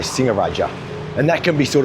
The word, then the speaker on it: Singaraja: But if you see a word with only one g so ng only like singaraja you know that there's no hard g in there. So you don't say singaraja you say singer raaja and that can be